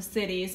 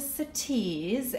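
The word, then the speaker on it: Citiz: is the Nespresso sities I was pronouncing it wrong in my last video I thought it was the city's but it's the cities and I got it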